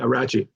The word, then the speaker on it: Rachi: Is it pronounced Rachi? Caleb Rachi? Yeah, Rachi. Rachi is the 3.